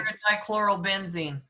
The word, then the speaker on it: paradichlorobenzene: And someone is going to have to pronounce the ingredient that we want, because I Paradichlorobenzene.